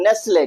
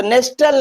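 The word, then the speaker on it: Nestlé: नेसले। क्या पढ़ेंगे भैया? नेसले। तो नेस्टल नहीं पढ़ेंगे। क्या पढ़ेंगे? नेसले।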